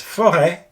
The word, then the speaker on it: forêt: So for example, the word for forest in French is forêt. And again here, you pronounce it with a widely open mouth.